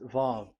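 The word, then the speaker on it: ו: So it's V as in Vogue. So it's really V. How to read Vogue? So the word, the shape Vav is really pronounced V, like Vogue. That is it, pronunciation. So here in this side, it's pronunciation. This is pronunciation. So according to the old Hebrew word today, those who the owner of the words, I mean, so it's a V. So don't change it into W, and you will say that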